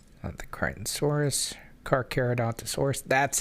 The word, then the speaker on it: Carcharodontosaurus: Carcharodontosaurus. That's how you say it. Carcharodontosaurus.